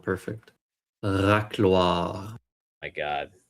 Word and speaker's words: racloir: Racloir, yeah. Can I teach you how to pronounce? Probably not. You have to roll your R to make it sound perfect. Racloir.